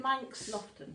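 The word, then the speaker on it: Manx Loaghtan: They had Jacob's, Shetlands, well 1 or 2 Shetlands, Hebrideans and Manx, how do you pronounce it? Manx Lofton.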